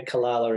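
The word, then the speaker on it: Calala: Yeah, Kalala in Tamworth.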